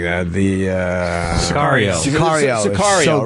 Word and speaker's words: Sicario: Sergio. Am I saying it wrong? Of course I am. Yeah, something like that. The Sicario. Sicario.